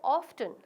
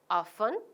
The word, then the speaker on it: often: how often are how often how do you say often or often how often how often both are correct so we are going